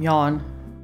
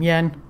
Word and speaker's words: Yan: I've Been calling him Yawn. She called him Yan.